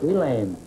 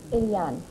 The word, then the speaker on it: Eliane: Elaine. Is that the way you pronounce it? Eliane. Ilian, huh?